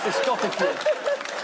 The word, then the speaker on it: discotheque: Well, I used to know somebody who pronounced discotheque as discotheque. That's how it's written. That's great. Discotheque.